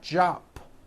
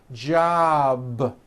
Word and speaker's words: job: be voiced for example job ends in a b which is a voiced sound job it's not jop with an unvoiced p keep the voicing going throughout the whole word job with a voiced b ending same thing with robe